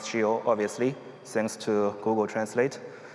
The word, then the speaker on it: Scio: Well, it's pronounced Shio, obviously, thanks to Google Translate. It's Latin, the kind that the Pope speaks, so very classy.